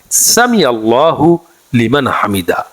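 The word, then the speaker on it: سمع الله لمن حمده: পড়তে হবে তাসমিয়াটি হচ্ছে সামি আল্লাহু লিমান হামিদা দেখুন এখানে উচ্চারণের একটু ব্যবধান রয়েছে সামি আল্লাহু সামি আল্লাহু একসাথে বলতে হবে লিমান হামিদা আলাদা বলতে হবে সামি আল্লাহু লিমান হামিদা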